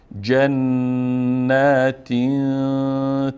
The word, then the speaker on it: جنات: بما قالوا قالوا قالوا جنات تجری جنات تجری اینجا نون نون مشدد هست و به مقدار دو حرکت فشار چار میتیم یعنی دو حرف تلفظ میشه جنتی جنتی جنتی جنتی